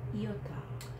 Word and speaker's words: iota: Iota. Iota. Iota is another vowel. The sound is E sound. E. Iota is E.